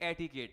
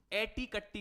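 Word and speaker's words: etiquette: एटीिकेट है। एटीकट्टी नहीं बोलेंगे एटीिकेट। तो देखो एटी एटी और फिर कट्टी कट्टी की जगह आप ऐसे एटी के ट एटीिकेट तो जो भी स्पेलिंग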